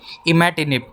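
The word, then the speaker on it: imatinib: है दोस्तों आपका इसका इमाटिनिब। दोस्तों अगर मेरी प्रोनाउंसिएशन अगर गलत हो तो हम सॉरी, लेकिन इसे हमारे सर तो कहते हैं इमेटिनिब। इसके करेक्ट प्रोनाउंसिएशन इमेटिनिब ही है।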